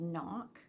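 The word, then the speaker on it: Nokk: Okay, so I'm glad I checked that because the colorway is called Knock, so it's spelled N-O-K-K, and I did not think that that was the name of the colorway.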